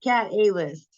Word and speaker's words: KataLyst: So coming up next, we have KataLyst, KataLyst, KataLyst. Pronounced cat A-list. Oh, Cat A-list, the A-list of the cats.